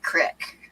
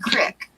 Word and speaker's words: creek: that creek and it's not pronounced Creek that's pronounced Crick I honestly think that